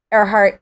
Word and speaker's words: Erhart: My last name is not spelled like Amelia Earhart's last name. It is pronounced the same, but it's different.